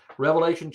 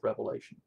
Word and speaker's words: Revelation: in the book of revelation but don't pronounce the book with an s because it's one revealing of christ and the seven seals